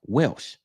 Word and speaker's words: Welch: Welch. Am I pronouncing that right? Welsh.